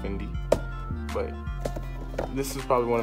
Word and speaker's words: Fendi: Fendi. It's actually pronounced Fendi.